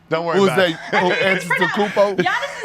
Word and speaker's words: Antetokounmpo: Antetokounmpo? Giannis' name is pronounced Antetokounmpo. two different ways, okay? You got the Greek way, you got the Nigerian way, Just as like, and